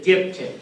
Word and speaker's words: diptych: Don't call it a dipstick and don't call it a dipshit. It's a diptych, yes.